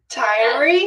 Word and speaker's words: Tyree: Tyree? Tyree like diary, but with I remembered when you told me last time, the diary.